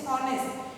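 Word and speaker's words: honest: और कुछ एक वर्ड्स जो साइलेंट होते हैं और प्रोड्यूस करते हैं वोवल साउंड को, जैसे ऑनेस्ट, वहाँ पे हमने एन लगाया।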